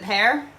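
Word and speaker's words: Paré: Yeah, is that how yes, Jean Pear, is that how I pronounce it? Is it Pear? P-A-R-E? Yes.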